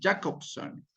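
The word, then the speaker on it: Jakobson: de la comunicación, atribuidas por Jacobson, como se pronuncia, ¿no? J-A-K-O-B grande S-O-N, Jacobson.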